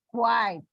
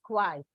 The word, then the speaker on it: quiet: Take for example, Q-U-I-T-E. Quite impossible. Or be quiet. We pronounce it, Indian version of pronunciation is quiet. One syllable. But as per the phonetics, if you notice, it's a diphthong here. It is not one syllable, but two syllables.